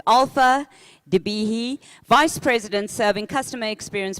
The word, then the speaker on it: Qaalfa Dibeehi: I think I may have pronounced it incorrectly last night, but it's Qaalfa Dibeehi, Vice President serving customer experience professionals for Forrester.